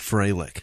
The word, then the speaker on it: Froelich: David Froelich, who is 22 years old. Is that Froelich? Yeah, you got it right there. That's oftentimes pronounced Freilich. Freilich, yeah, I've seen it Freilich, but then there's the guy who played for the Falcons.